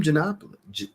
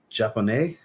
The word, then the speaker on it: Japonais: Plum Janap. I always say that wrong. Japonais. Plum Japonais, I believe is how you say that.